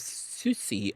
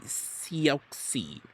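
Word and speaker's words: Siouxsie: Do you pronounce that as Susi? So me dumb ass me thought I'm like it can be Sioxy right it can be Sy and the Banshees right but no it took me years to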